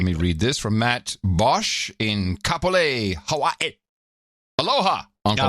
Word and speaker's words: Bosch: Matthew Bosch, pronounced Bosch.